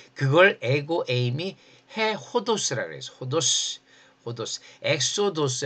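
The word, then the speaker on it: ὁδός: 호도스. 호도스. 엑소도스 할 때 요거예. 그런데이 흐발음이 흐라는 기시금은 앞에 무슨 접두사가 오면은 그냥이 기식이 없어져 버려요. 그래서 엑소도스가 되고 이게 혼자 있으면 호도스가 돼요.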